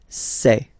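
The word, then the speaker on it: ces: then set here and for the plural say say really open this e e say Okay so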